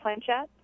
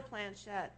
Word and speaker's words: Planchette: Planchette? Yeah. Planchette, yeah.